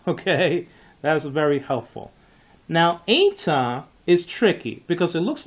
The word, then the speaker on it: eta: One small thought about the eta, when it is with a rough breathing, it is pronounced hey, hey, with a rough breathing.